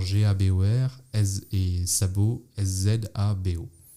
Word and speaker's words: Szabó: Je peux faire attention quand on prononce. Enfin, il y a toujours le Z un peu derrière le Ouais, S. ça c'est galère parce qu'en polonais, je crois que quand il y a SZ, ça se prononce che, et en hongrois, c'est exactement l'inverse. Le S se prononce che, le SZ se prononce S.